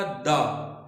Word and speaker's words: the: Rule 2 में rule 1 में THE pronounce हुआ द, रूल 2 में THE प्रोनाउंस हो रहा है दी। THE रूल क्या कहता है? What rule says? What rule tells us? The rule says that THE is pronounced the when it comes before such a word which starts with a vowel sound।